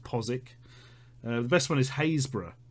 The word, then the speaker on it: Postwick: we've got a lot of those postwick is pronounced posik the best one is hayra which is haberg